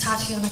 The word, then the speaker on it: Tiana: both for me please my name is taana cochr um formerly known as Tana Smith and my first name is spelled t a TI i a n a